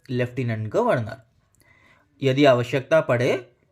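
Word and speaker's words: lieutenant: भी एफ नहीं है लेकिन इसको लेफ्टिनेंट बोला जाता है तो आप नोट करिए य लेफ्टिनेंट य लायू टेनेंट नहीं है और इसको याद करने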